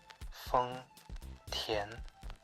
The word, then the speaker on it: 丰田: Chinese phonetic alphabet, is Feng Tian, with a first tone on Feng and a second tone on Tian. When you say Feng Tian, be sure to hit